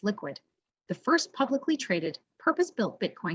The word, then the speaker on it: LQwD: Today we are speaking with Shone Anstey, founder and CEO of LQwD, pronounced Liquid, the first publicly traded, purpose-built Bitcoin company that's focused on solutions that power the growth of the Bitcoin Lightning Network.